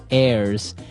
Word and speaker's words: heirs: is an air now if you notice the H is silent there so his airs and that though those